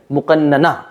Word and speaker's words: مقننہ: غلط ادا کیا ہے، ظاہر اصل جو اس کی جو ادائیگی ہے، تلفظ ہے، وہ تو ہے مقننہ، ٹھیک ہے، مقننہ یعنی